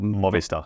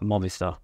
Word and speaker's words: Movistar: How do they pronounce it? Like Movistar. Movistar.